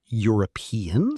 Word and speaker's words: European: A European country, because European sounds like it starts with Y.